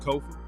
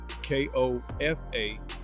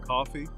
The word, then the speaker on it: Kofa: I'm your host, Kofa, K-O-F-A, not coffee, not kufu, not Kofi, or any variation thereof. Kofa. It rhymes with sofa. Easy to say.